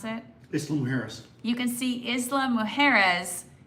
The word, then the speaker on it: Isla Mujeres: that you can see, Bennett, how do you pronounce it? Isla Mujeres.